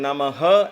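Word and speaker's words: Namaḥ: There is a way to pronounce this. Namah, it becomes Namah. The tongue gets stuck there, but the air still comes out.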